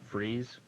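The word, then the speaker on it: frieze: Would be pronounced freeze.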